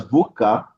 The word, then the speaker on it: VUCA: Now, when we talk about VUCA, which you can pronounce as VUCA, environment characteristics, it presents,